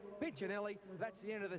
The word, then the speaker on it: Piccinelli: Now, there's been a question mark thrown at us by the Italian community who say that Pinchinelli should actually be pronounced Piccinelli. However, we've asked Neil his pronunciation of his own name, and he prefers to be called Pinchinelli.